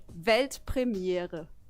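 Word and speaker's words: Weltpremiere: you say World premiere in German it's actually velt premiere Premiere yeah yeah it's good congrats and thank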